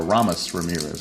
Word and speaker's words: Aramis Ramirez: And now we bring up third baseman Aramis Ramirez, or Aramis Ramirez, I think is how it's actually pronounced.